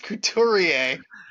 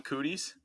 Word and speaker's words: Couturier: Sean Couturier. Cootie, Sean Cooties. Incredible. That was like Craig Rive level of mispronunciation.